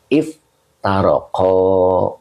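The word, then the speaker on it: افترق: tambahan dua huruf ya maka dibaca iftaala begitu Jadi iftarqo begitu ya ya jadi bacanya if tarqo gitu iftarqo fi'il Madi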